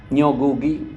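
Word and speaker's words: Ngũgĩ: দোষনীয় হবে না এইযে নিগু ওয়াতিঙ্গ বলে যে বিখ্যাত আফ্রিকান লেখক উপন্যাসিক তিনি সম্প্রতি মারা গেছেন আপনি এনগু বলেন নগু বলি আমরা বাংলায় আমি উচ্চারণ করলে অনেকটা বাংলায় দিয়ে উচ্চারণ করতে ভাবে আর কি উনি লিখছেন একবার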